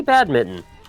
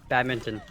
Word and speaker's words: badminton: good job just say bad Mitten it's not bad Mitten it's not Spinx either but it's better Fox how do you say it badminton hell yeah Canadian though